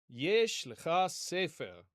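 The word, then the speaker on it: יֵשׁ לְךָ סֵפֶר: So, Yesh l'cha sefer is how we would pronounce this.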